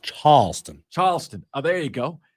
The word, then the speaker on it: Charleston: It's pronounced Charleston.